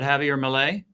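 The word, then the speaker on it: Javier Milei: so do do you think uh is is pronounced Malay is it Javier Malay yes it is right okay so do you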